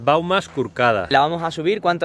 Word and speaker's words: Baumes Corcades: ¿Y cuál es la pronunciación exacta en catalán? Porque a mí no me sale. Las Baumas Curcadas.